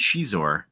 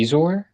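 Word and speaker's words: Xizor: At least Zizor rhymes with Shizor.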